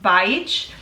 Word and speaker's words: Baich: And then my last name is pronounced Baich. I know it doesn't look like that at all in the spelling, but yeah, it's how it's pronounced, and it's a hard one.